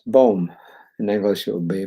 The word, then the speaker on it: Boom: name is spelled be why in D that's pronounced bom in English it would be boom Faith sees the invisible believes the unbelievable and